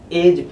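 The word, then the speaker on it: edge: मैंने एक वर्ड लिया जिसमें डिसाइड रहती है ऐड पीठ आपमें से बहुत लोग ऐड पढ़ते होंगे लेकिन बीज नहीं पढ़ा जाता है एज पढ़ा जाता है ठीक है ठीक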